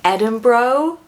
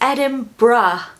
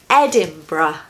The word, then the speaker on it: Edinburgh: I've heard quite a few Americans saying Edinburgh, which is actually really funny. It's so wrong. It's Edinburgh, bruh. It's just a bruh sound at the end. Don't be put off by that U-R-G-H. Just ignore those letters. So it's Edinburgh. 3 syllables, stress the first one.